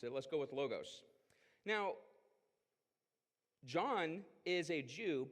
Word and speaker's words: logos: guys heard this word before you might say Lagos logos I've Heard lots of people pronounce it let's go with logos now John is a Jew but he is